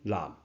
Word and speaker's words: 坔: 正确应该写这字，这字的读音南，价声南。或者读价声弄，意思是